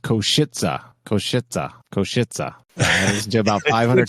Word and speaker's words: Košice: And apparently that's pronounced Košice. I listened to about 500 times, and yeah, it does sound like that. Košice.